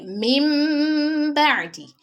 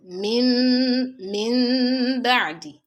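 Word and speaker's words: مِن بَعْدِ: So mim ba'di is different from min ba'di. Min ba'di, min ba'di. So the correct one is min ba'di, not mim. Take note of your lips when you're pronouncing it. Your lips must not close completely.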